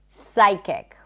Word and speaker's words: psychic: Whenever there is a PS at the beginning of a word, the P is not pronounced. So we don't say psychology, we say psychology. You just don't pronounce the P sound. Psychiatrist, psychic. Can you hear it? Psychic, not psychic.